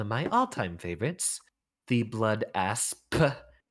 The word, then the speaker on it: Blood Asp: my all-time favorites the blood asp pronounce the p make sure that no one ever miss hears you oh look at that